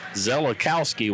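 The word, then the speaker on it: Szelakowski: the glasses so then s z just the S is silent but zelakowski without the S makes both three takes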